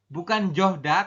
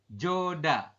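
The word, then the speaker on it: 좋다: Kemudian yang ini bukan johda tapi dibacanya adalah joda.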